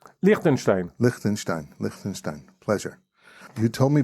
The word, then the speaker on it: Lichtenstein: It's pronounced Lichtenstein? Lichtenstein.